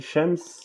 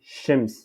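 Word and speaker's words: شمس: Donc, si on dit shams, c'est comme l'arabe classique. Mais ici, on dit shims. Shims. Shims. C'est le soleil.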